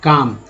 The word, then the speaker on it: calm: अब देखिए काम, CALM, काम, एल जो है साइलेंट है, और WALK, यहाँ वॉक, वॉक में एल साइलेंट है।